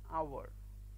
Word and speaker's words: hour: a house but an hour because in case of our the h is silent similarly an uncle but